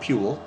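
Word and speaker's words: pule: milk it's donkey cheese it's called PE which rhymes with mule and I I I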